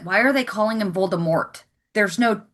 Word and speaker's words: Voldemort: I had that the first time I watched the film and I went why are they calling him Voldemort? There's no You don't say the T.